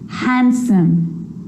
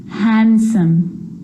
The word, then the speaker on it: handsome: sea so what about the letter D yep it can be silent too Wednesday handsome sandwich so I'm